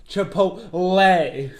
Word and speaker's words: Chipotle: Say it right. Chipotle. Chipotle. All right, Chipotle. Popeyes would be tier. Chipotle. There's an L. Chipotle.